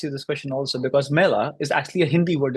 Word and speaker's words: Mela: of homage for Apple because Mela in Italian is apple. So they thought something Oh, like apple. Yeah, yeah, Mela. It's actually Mela. That's how they say it.